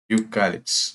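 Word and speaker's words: eucalyptus: യൂക്കാലിപ്സ് എന്ന് പറയുമ്പോൾ അവിടെ യു എന്നാണ് പറയുക, യൂക്കാലിപ്സ്. അപ്പൊ അത് കോൺസണന്റ് ആണ്.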